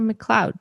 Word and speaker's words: McLeod: have a long-lost friend of mine um ayla mccloud that's that's how you pronounce it now hey yeah cloud okay yeah